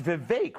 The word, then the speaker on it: Vivek: word to you Vivek and it's Vivek rhymes with cake I appreciate that it